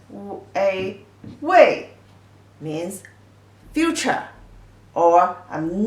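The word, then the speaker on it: 未: This character pronunciation, a wei, means future, or I'm not come yet, not done yet, is a negative word, means that you have not done it.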